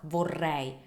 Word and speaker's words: vorrei: It's the R, the Italian R, and it's a double R, vorrei.